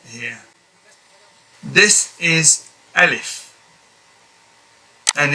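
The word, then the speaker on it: ألف: this is alif and it's pronounced by opening your mouth not fully open not oval but rather half oval and half wide ah alif in order to get the correct pronunciation alif a certain amount of opening of the mouth should be there in order to get the complete sound alif next one is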